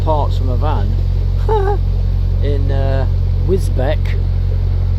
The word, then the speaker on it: Wisbech: In Wisbech. Oh, it's Wisbech, yeah, but it's spelt with a B-E-C-H. Wisbech. Betch. I call it Wisbech.